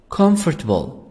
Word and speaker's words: comfortable: dark you have light comfortable comfortable comfortable oh silent here oh silent comfortable also american can say comfortable o as a sound and o in four silent comfortable positive convenient what does